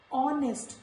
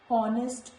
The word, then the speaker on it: honest: Honest, not honest, honest. R, not har. Ghost, not ghost, this is ghost. So in all these words, when letter H comes before O, it is silent.